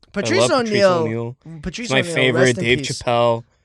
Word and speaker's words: Chappelle: Dave Chapelle. Did you say Chapelle? Dave Chapelle. Chapelle. You love Dave Chapelle, and you've been saying his name wrong this whole time.